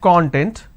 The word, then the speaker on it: content: So we have the word content. I break it into two syllables.